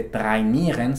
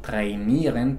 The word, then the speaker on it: trainieren: Por ejemplo, no se dice trainieren, sino trainieren porque viene del inglés.